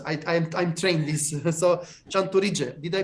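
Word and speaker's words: Tchantouridzé: So, CHANTOURIDZÉ, did I pronounce well?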